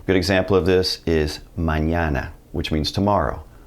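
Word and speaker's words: mañana: it's going to be pronounced like the n in the English word onion good example of this is Manana which means tomorrow Manana let's talk about the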